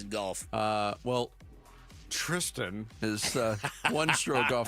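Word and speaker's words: Thriston: It's he likes to go by Tristan. Yeah. Oh, is it Tristan? You know what? They don't have a H but it's spelled like Thirstston. There used to be Thristan.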